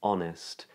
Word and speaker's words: honest: Although be mindful because there are some written H's that are not pronounced, as in honest and hour.